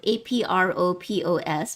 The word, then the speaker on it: apropos: Well, there's the apropos command, which is spelled apropos because the S is silent.